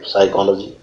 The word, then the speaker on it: psychology: बन जाएगा साथ और आधा पॉल के साथ साइलेंट हमने कि वो आधा पक रूप में इसमें जोड़ लिया बन गया साइकोलोजी अब पूरा को इसलिए लिखा क्योंकि आप के